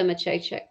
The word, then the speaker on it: Maciejczyk: And it's pronounced Ava. M-A-C-I-E-C-Y-K. I think that's right. There you go. Ava Maciejczyk.